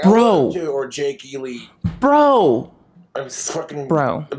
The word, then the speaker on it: Jake E. Lee: would have shot that bastard trying to shoot Jackie E. Lee. I'm like, Bro. or Jake E. Lee.